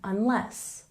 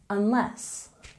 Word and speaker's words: unless: pronunciation we have a stress on the second syllable in unless unless and succeed we have